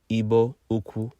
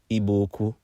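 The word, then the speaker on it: Igbo-Ukwu: artifacts in eastern Nigeria at a site called IBO uku properly pronounced iboku and one of the artifacts was a distinct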